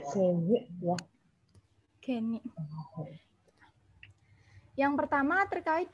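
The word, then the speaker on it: Gagné: Oh, Pak, bacanya Gagne ya.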